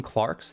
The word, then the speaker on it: clerk: more than is necessary he called them clarks that's like an older i've heard that term used before the clerk's pronounced clarks before but i can't remember